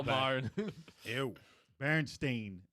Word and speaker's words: Berenstain: Berenstain, not Steen. Yeah, Bernstein.